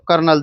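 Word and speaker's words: kernel: इसका उच्चारण सेना की जो कर्नल जैसे जैसा ही है कर्नल सेना कर्नल कौन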